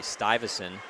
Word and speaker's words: Stuyvesant: Clair quick line changes working hard for own pucks to the net should say Stuyvesant is the correct pronunciation now Sileo will dump it up to Rourke who throws it in deep good start for the upper st.